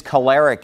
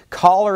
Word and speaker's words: choler: people referred to as being choleric someone who's choleric is a very angry person caller is a word that I actually learned I